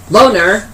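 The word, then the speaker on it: LONR: Loner, which is spelled L-O-N-R, Loner may not be a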